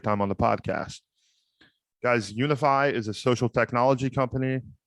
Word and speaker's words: Unifi: that today's episode is brought to you by unify commerce say with me now unify commerce yes guys that is spelled u n i f i commerce dot